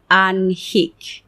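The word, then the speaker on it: আহ্নিক: কিন্তু উচ্চারণ করতে গিয়ে দেখা যায় এটির উচ্চারণ হলো আনহিক। নটি আগে চলে আসছে। তাহলে এর সঠিক উচ্চারণ হল আনহিক। আনহিক। অর্থাৎ দৈনন্দিন বা প্রাত্যহিক জীবনের যে বিষয়টি সেটিকে আমরা আনহিক বলছি। সঠিক উচ্চারণ আনহিক।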